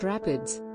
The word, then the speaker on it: RAPD: polymorphic dna or rapd is usually found in the plural as rapd's and is pronounced rapids partly because it is